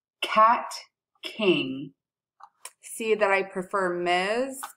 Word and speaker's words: Kat King: in my class can now play my name cat king see that I prefer Miz and she her